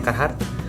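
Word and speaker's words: Carhartt: Dickies Dickies funkot kemudian karr hard betul pengucapannya kehat atau biasa yang bilang curhat-curhat kemudian ada juga Eh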